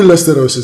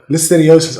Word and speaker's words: listeriosis: You all remember what happened to Listerosis? That shit went away quickly. Mysteriosis, yeah. Listeriosis.